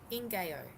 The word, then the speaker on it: ngaio: It's a Maori tree. It's pronounced Ingayo.